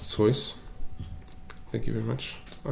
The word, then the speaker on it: Seuss: I do believe it's pronounced Seuss.